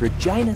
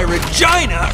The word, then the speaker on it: Regina: Wills, Regina, Saskatchewan. Lines up. Ooh, he's Canadian. Sweet. Good. That's why Regina rhymes with fun.